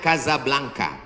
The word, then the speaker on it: Casablanca: nama negaranya Maroko ibukotanya tulisannya Casablanca cara bacanya Kadzab langka Kaza artinya rumah Blanca